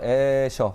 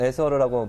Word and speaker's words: 에셔: 사실 유명한 화가 판화가 에셔 혹은 에서르라고 발음을 하는데요.